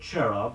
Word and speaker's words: cherub: CH AM II leon323 Qin T the word cherub is spelled CH e ru B you've seen pictures